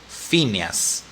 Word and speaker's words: Phineas: o piñas bueno se escribe piñas pero se pronuncia Phineas que es un personaje verdad de Phineas me